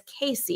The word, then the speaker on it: Casey: And I think in my brain, well, phonetically speaking, it absolutely is Casey. It would have to have two S's in order for it to be Cassie.